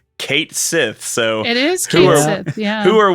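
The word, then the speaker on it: Cait Sith: Fantasy 7 rebirth moment apparently it's Kate Sith so it is who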